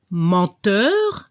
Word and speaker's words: menteur: La pronunciación para el masculino se escuchó un poco la R al final, acteur, y al femenino se debe escuchar la S al final, actrice.